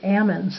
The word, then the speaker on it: almond: actually don't pronounce them almonds they say Ammons as though there's no l in the word which um I found